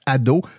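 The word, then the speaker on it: Ad'haut: Donc, vous tapez dans n'importe quelle application de podcast Ado, mais attention, ça s'écrit AD apostrophe H-A-U-T.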